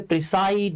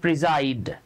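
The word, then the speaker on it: preside: commence মানেও শুরু করা আমরা অনেকে এটাকে প্রিসাইড বলি এ উচ্চারণ প্রিজাইড প্রিজাইড মজার ব্যাপার হচ্ছে আপনি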